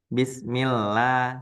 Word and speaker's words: Bismillah: Tadi Bismillah, dia karena diawali dengan i, nah, maka dia dibacanya illah seperti biasa Bu ya. Bismillah seperti kita ngomong normal.